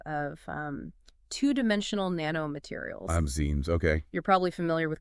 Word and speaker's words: MXene: Today we're taking a deep dive into the world of mines, pronounced Mexines. They're a really exciting class of um two-dimensional nano materials. Mzen.